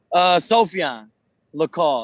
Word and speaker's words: Sophian Lacal: Let's go with, Lacal. Yes, sir. Say that for me. Pronounce that for me. Sophian Lacal.